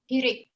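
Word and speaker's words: חיריק: Hirik. Hirik. Hirik. And like I told you, no, when you say hirik, you are forced to smile.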